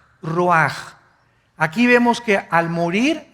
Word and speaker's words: ruach: ruaj que se escribe r u a c h ruach en el hebreo y se pronuncia igual ruaj Aquí vemos que al